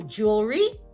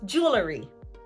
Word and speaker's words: jewelry: This is a two-syllable word, but native speakers may pronounce this as jewelry because it may be difficult to pronounce the L and R cluster. So jewelry becomes jewelry.